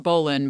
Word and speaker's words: bowline: to tie a bowline knot it's written it's pronounced Bowen but it's written bow line b-o-w-l-i-n-e I think